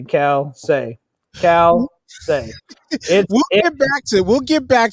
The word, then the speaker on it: Calcei: It's Calcei. I don't know the pronunciation. I just say it's Calcei because it sounds good. Nobody knows how to pronounce it, but I say Calcei.